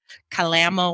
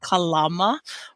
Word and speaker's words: Kalama: There's even a city there in Washington state, which everybody pronounces incorrectly by calling it Kalama, Washington, but it's actually Kalama, Washington.